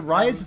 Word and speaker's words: Ryze: party alright he's right Ryze is a rise how you pronounce it right right smelled rai ze for